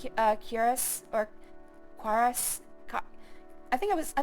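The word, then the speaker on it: Corprus: Quorice is one of my favorite words. I didn't know how to say it uh until I started actually playing this on stream. I did not know it was supposed to be chorus. I always said uh curus.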